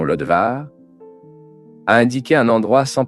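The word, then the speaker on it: Lodebar: Le nom Lodbar, dans sa prononciation Lodvar, a indiqué un endroit sans pâturage.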